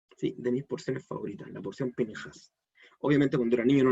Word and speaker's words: Pinejás: Sé que muchos la han visto escrito por ahí como Pinhas, sin la E, pero la pronunciación correcta, en la pronunciación sefaradita, que es la que se ocupa hasta el día de hoy, es Pinhas. Esa E suena poquito, pero suena, Pinhas, ¿sí?